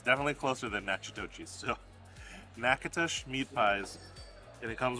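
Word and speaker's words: Natchitoches: We pronounced it nachitochis, and I'm sure that's nails on a chalkboard to you guys. Apologies from Random Recess. We are so sorry. These are actually called Nakatosh.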